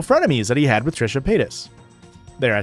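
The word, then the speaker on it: Trisha Paytas: And at first, it was meant to be a a a subreddit that discusses the show Frenemies that he had with Trisha Pis.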